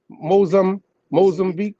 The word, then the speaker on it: Mozambique: Mozambique. No, beak. That's it. I was had it right the first time.